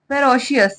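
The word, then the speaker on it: ferocious: मतलब एक फेरोश अस इसको कैसे पढ़ेंगे फेरो सयस फेरोश इसका मतलब होता है क्रूर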